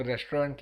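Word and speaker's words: restaurant: सीधा नाम ता है उन लोग रेस्टोरेंट लिखेंगे और पढ़ेंगे रेस्टोरा ठीक है उल्टी सीध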